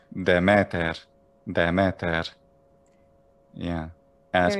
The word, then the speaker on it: Demeter: sonic or catholic goddess i might say demeter but someone in this century bce might say the matter the matter yeah and